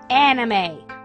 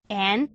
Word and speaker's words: anime: However, I get a lot of complaints with just how I say the word anime.